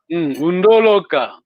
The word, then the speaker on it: Undoloka: Undoloka. But the accent is on the first.